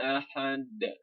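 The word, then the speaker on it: أحد: Nah, ahad itu bukan berarti kita membacanya ahad, tapi itu disebabkan karena ada hukum qalqalah. Hukum qalqalah itu kita berarti menekannya. Jadi qul huwallahu ahad. Ketika kita menekan ahad, terjadilah pantulan D-nya itu.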